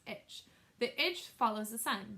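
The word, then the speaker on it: ITCZ: tropical Intertropical Convergence zone itch pronounced itch the itch follows the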